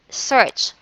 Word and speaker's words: search: The word is search because A is not pronounced.